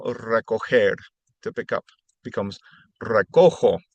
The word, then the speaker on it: recojo: For example, recoger, to pick up, becomes recojo. If it was spelled with a G, it would be recogo. So it needs to be recojo in the yo form.